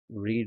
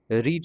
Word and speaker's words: read: লেট the questions B, রিড নয়, প্রোনাউন্সিয়েশনটা হবে রেড, স্পেলিংটা same থাকবে।